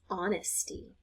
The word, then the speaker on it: honesty: Sometimes, not very often, but sometimes H is silent. And so words like hour and honesty, herb, depending on where you're from, that H is silent.